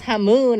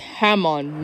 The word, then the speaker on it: Hamon: Well, the co-pilot said he's gonna use Hamoon or something to keep the plane safe. Whatever he meant by that. It's pronounced Hamon, Misty.